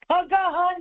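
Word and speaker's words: काकः: அது எதுமா காக்ககன்னு ப்ரொனவுன்ஸ் பண்ணலாமா? எப்படி பண்ணலாமா? ககஹன் பண்ணுங்க.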